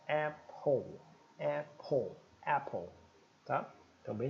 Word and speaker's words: Apple: conhecia a Apple né é um som glotal de e e a e o som do p e o som do L Limpo ó Apple Apple Apple tá então